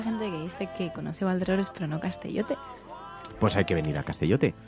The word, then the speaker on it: Valderrobres: No son robles, son robres. Valderrobres. Pero, y entonces, a ver, yo no me hecho, quiero meter con los... no es porque Valderrobles.